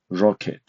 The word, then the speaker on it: rocket: For example, a stress is on the first syllable of the English word rocket.